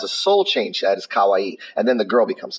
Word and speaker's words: kawaii: little cosplayer she's so cool I know you're pronouncing the word wrong the word you are looking for is kawaii kawaii means cute Kalai means scary so if